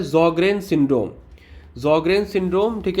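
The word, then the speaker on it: Sjögren: रिमेटोलॉजी का कोर है ये ज़ॉग्रेन सिंड्रोम, ठीक है, एस साइलेंट है, ठीक है ना, याद रखना।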